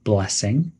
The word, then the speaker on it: blessing: Some pronunciation tips are to emphasize bless in blessing.